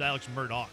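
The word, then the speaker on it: Murdaugh: you see this actually I think it's pronounced Alex Murdoch oh yeah the guy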